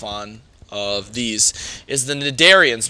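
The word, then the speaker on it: cnidarians: of these is the nidarians remember i said that this c is actually silent and you just pronounce it nadarians now an example of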